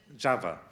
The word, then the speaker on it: Csaba: just what we heard from, how do I pronounce it? Csaba? Csaba.